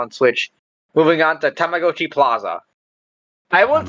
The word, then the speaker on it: Tamagotchi: Moving on to Tamagotchi Plaza.